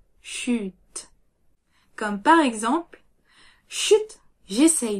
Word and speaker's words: chut: On prononce bien le t à la fin. Chute, chute.